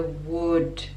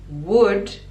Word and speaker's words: would: end of never never would would we don't pronounce the l and it's /ʊ/ sound never would I told